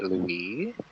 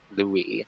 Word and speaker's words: Louis: which is like oh because it's it's a French name like if you guys know Louis Vuitton that's French like it's pronounced Louis not Louis but you know both is fine because because uh my